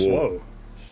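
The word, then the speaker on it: SWA: But it says, pronounced SWO, actually. It's pronounced SWO.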